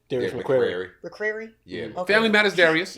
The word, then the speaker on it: McCrary: And Darius, I always say his last name wrong. Is it McCray? Darius Yeah, McQuarrie. McCrary?